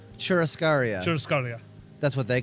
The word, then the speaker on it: churrascaria: You're better at pronouncing things. Churrascaria? Churrascaria.